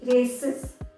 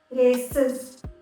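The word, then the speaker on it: races: तो इसके आगे जब हम एस लगाते हैं तो इसको हम प्रोनाउंस करेंगे रेसिस, रेसिस, इज।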